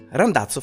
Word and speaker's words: Randazzo: We continue towards Randazzo. Randazzo rhymes with so many words, including Palazzo, and that's not the point.